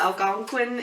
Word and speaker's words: Algonquin: The Algonquin Indians.